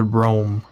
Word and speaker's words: Rhoam: mysterious and secret um two lives of king rahm i'm pronouncing his name right it's rahm right um well i'm pretty sure he pronounces it rome if it's if it's uh if it